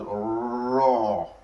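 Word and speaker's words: راء: So this raw now is pronounced as raw, raw, raw. So you have to roll the tongue when pronouncing it.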